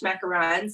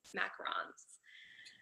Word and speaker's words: macarons: What I make are French macarons. It's a French word, so the pronunciation is a little bit different, but there's actually only 1 O.